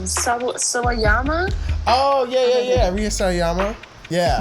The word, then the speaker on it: Sawayama: I don't know how to pronounce her last name. Sawayama.